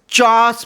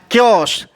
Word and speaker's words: chaos: बहुत सारे लोग इसको चॉस पढ़ते हैं या काओस पढ़ते हैं, लेकिन इसका प्रोनाउंसिएशन होता है क्योस, क्योस, जिसका मतलब होता है अव्यवस्था।